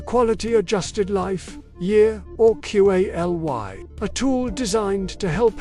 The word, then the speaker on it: QALY: This paper discussed the quality adjusted life year, aka the QALY, pronounced QALY.